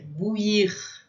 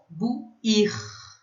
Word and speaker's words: bouillir: I, tem o som de I, que é bouillir. E aí a gente tem uma outra situação, que é quando a gente tem I, L e L, fica um I comprido, bouillir.